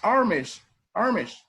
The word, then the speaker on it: Amish: Over here it says Amish, is pronounced Amish people, but it's just a prolonged 8, okay?